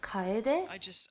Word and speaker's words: Kyeday: Like, it's pronounced Kyeday.